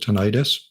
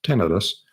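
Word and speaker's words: tinnitus: be more concerned with tinitus um some people pronounce it ttis but that makes it sound like it's an inflammation of the tin the itis meaning inflammation of it's tenus both are acceptable um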